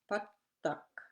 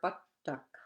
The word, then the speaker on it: pattak: It's important to watch for the single and double consonants for correct pronunciation. Example, it took, that's an elderly man, or pattak. Ittuk or pattak.